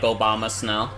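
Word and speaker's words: Abomasnow: actually a Pokemon named Obama Snow I mean it's spelled like abominable because it's like the Abominable Snowman but it's like basically pronounced like Obama Snow um that might that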